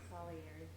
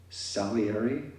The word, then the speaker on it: Salieri: Salieri. Thank you. How do you say it? Salieri.